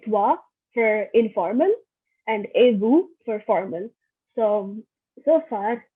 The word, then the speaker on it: vous: And here you can see that I'm pronouncing the S here in vous because the word after vous is appelé, which starts with the A, which is a vowel. So I say comment vous appelez-vous? So instead of sa, it is like a Z sound.